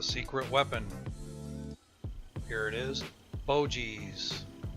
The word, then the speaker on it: Boetje's: weapon here it is Bogey's stone ground mustard and that's pronounced bow cheese it's made right here